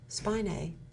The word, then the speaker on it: spinae: If we work those, and if we work the erector spinae, is that pronounced right?